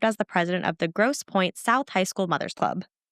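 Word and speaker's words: Grosse Pointe: But it's spelled with e at the end, so it's like fancy, you know, gross poe kind of thing.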